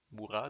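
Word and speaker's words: Murat: ça pas été long Mourat devrais-je dire tout le temps tendance à prononcer le T muet 3è carte la Grande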